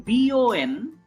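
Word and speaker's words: beau: B-O-N. This is nasal. Boom. There is a nasal sound. Boom. And here, when I scroll down, it is simple bo.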